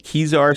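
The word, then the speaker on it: Kezar: of people on there first make sure I'm pronouncing it right kizar stadium is that how you pronounce that place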